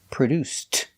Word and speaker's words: produced: produced that movie produce in the past produced making the T sound example who produced that